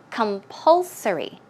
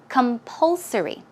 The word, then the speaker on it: compulsory: or certain rules let's check out how to pronounce it you can't distress goes right there so it's compulsory compulsory one more time compulsory good job and the next one booklet remember